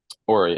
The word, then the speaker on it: Ori: I also love that you, earlier when you were kind of introducing yourself, you referenced meeting Ori, is that how you say it? Ori, her full name's Oriel, but she goes by Ori.